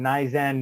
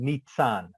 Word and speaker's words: Nizan: to pronounce my name nizan nizan nizon nissan so i put the t in there for pronunciation nitsan so the email that's